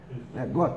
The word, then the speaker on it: Gott: Gott, está certa a pronúncia, então tá.